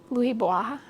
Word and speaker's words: Bois: And now this one is the Hoya Bella Louis Bois, B-O-I-S. Sounds French, Bois, I think, if that's how you're supposed to pronounce it.